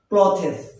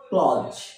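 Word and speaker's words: clothes: suitable ন suitable সুটে আমরা এটাকে কি বলি ক্লথেস কিন্তু এর আস উচ্চারণ ক্লজ কি ক্লজ আবার ক্লজ পরবর্তীতে আমরা যে ওয়ার্ডটি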